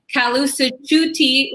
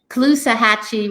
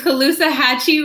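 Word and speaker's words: Caloosahatchee: your district includes the kalu tutti river parts of lake i definitely pronounced that wrong what was it the colusa hatchy river and okeechobee lake okeechobee and colusa hatchy river correct and uh so those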